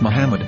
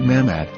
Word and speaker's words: Muhammad: According to Ben Yehuda's Hebrew English dictionary, it is correctly pronounced as Muhammad, not Mammad.